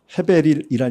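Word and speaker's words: הבל: 저만이야이 어떤 이렇게 보니까 인터넷 보니까 영상을 보니까 목사님들 다른 분들도 발견하고 하셨는데 헤벨이란 이름은 똑같은 이름이 있는데 아벨입니다. 여러분 아벨이라는 사람 아십니까? 우리말로 아벨이라고 발음하지만 헬라 히브리어는 헤벨이라고 바음 헤벨 똑같은 헛입니다.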